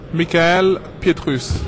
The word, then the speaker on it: Mikael Pietrus: Air France okay Air France but then the pronunciation of your first name Mikel Petrus mik okay mik pus so there you have